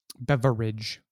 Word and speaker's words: beverage: pronunciation of the word beverage beverage three syllables people very well enunciated and i i concur